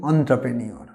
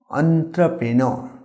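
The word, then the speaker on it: entrepreneur: এরকম যে কাজটা কেউ নতুন করে সেটাকে আমরা বলি এন্ট্রপ্রেনিওর, এটা ভুল উচ্চারণ। এই ওয়ার্ডটার সঠিক প্রোনাউন্সিয়েশন হচ্ছে এন্ট্রপ্রেনর, রটা সাইলেন্ট, এন্ট্রপ্রেনর।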